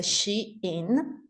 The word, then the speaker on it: SHEIN: heard all kind uh actually is a she in is a short version of a she insider uh she insider was